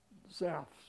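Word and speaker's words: Zapf's: I visited Zaff's Music, that's the way we pronounce it in Philadelphia.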